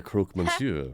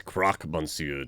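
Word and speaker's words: Croque-Monsieur: hungry you are the croak mansure are you not that's Croc monsu to you oh I love that they've probably been mispronouncing it this whole time yep M people always get the pronunciation wrong I'm not really hearing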